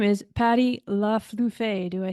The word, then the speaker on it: LeFlufy: And your name is Patty LeFlufy. Do I say it right? LeFlufy is how it's pronounced. LeFlufy.